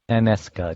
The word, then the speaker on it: Taneska: That's Taneska, Taneska, just like it sounds.